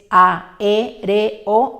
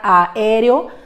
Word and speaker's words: aéreo: La siguiente palabra tiene 4 sílabas, aéreo, y de ninguna manera aéreo, dado que estamos viendo que son vocales fuertes y no tienen diptongo.